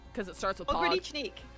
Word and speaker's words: Pogranichnik: Pogranichnik. Pogranichnik.